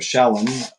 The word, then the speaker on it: shalom: And there's a Hebrew word shalam or shalom. S h a l o m. It means uh peace. Shalom. There it is. I don't know why. Hello. You read the word and then you forget how it's said. Shalom.